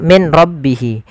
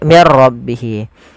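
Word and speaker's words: مِن رَّبِّهِ: ro maka di sini jangan dibaca Min rbihi tapi diganti menjadi mirbihi Bagaimana langkah membacanya langkah pertama suara nunnya dimasukkan ke ro dan diganti menjadi R maka menjadi mirro maka menjadi diganti dengan ro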